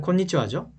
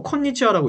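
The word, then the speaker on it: こんにちは: 오하요 그렇죠 얘는 곤니찌와죠 근데 일부러 콘니치하라고 읽지는 않습니다 이거는 원래 코라고 있잖아요 그리고 응이라고 해서 곤니치와라고 있는데 꽃잎이 곤니찌와 곤니찌와 오히려 콘 보다는 꼰에 좀 다가가 싼 기억에 좀 가깝다고 이해하시면 돼요 곤니찌와 이렇게 읽으시면 되고 얘는 점심 인사죠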